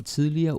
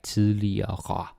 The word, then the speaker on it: tidligere: But nowadays, it's pretty rare to hear someone pronouncing it like the dictionary way, like tidligere. I might do it in a video because it's super slow. But if we speak fast, which you also hear me do sometimes, it's tidligere. Okay? Tidligere. So don't bother putting so much energy into saying tidligere. Danish people won't do it, so.